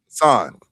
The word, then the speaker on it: Passan: Passan.